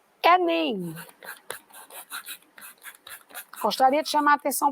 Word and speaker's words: Enem: Aqui na palavra Enem, eu também posso ler em 2 sílabas. Sílaba E, sílaba NEM.